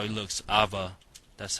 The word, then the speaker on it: A.V.A: The game is actually called Alliance of Valliant Arms, but we call it A.V.A.